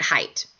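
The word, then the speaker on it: Haidt: a researcher named Jonathan height right there on on slide six H I H AI D T you pronounce it height and he's does some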